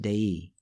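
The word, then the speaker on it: δεῖ: The little Greek verb being translated as must or it is necessary delta epsilon iota or de ei pronounced dei makes its first appearance in the story right here.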